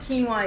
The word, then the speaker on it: quinoa: so what other what greens they have so quinoa if we don't know what keen why is by now you don't know how to